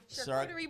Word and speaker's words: charcuterie: Charcuterie board.